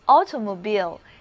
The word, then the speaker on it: automobile: 那就是汽车，叫做 automobile。